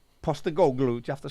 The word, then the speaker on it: Postecoglou: Ange Postecoglou. Postecoglou.